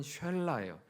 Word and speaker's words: 쉘라: 세 번째 아들의 이름은 셀라인데요, 이것도 발음은 쉘라예요.